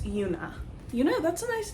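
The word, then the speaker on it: Joona: And it's not Joan, it's Una.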